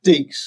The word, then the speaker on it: Deeks: Rhymes with leaks. Ah, got it. There you go. Deeks.